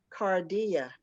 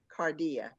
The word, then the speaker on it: Cardia: to make a correction the pronunciation of the uh cook is uh a chef excuse me is cardia brown cardia i think i call it cardi cardia brown is yeah yeah so